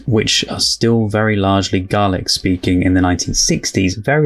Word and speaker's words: Gaelic: the other day but apparently the Scottish gaic is garlic is how it's said still spelled the same way g a e l i c uh and the Irish one is Gaelic so I know it is gaic but because this is